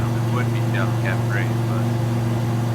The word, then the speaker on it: Delcambre: Louisiana, that is pronounced Delcambre. Well, the pronunciation of it would be Delcambre, but Delcambre, like Del. Come see me.